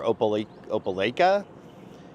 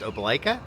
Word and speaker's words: Opelika: And we're gonna run into Auburn or Opelika to take the dogs to a dog park.